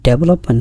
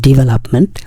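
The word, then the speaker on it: development: এর উচ্চারণ কিন্তু ডেভেলপমেন্ট না। এর উচ্চারণ ডেভেলপমেন্ট।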